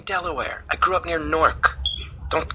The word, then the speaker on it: Newark: I didn't grow up near Newark. That's in Delaware. I grew up near Newark.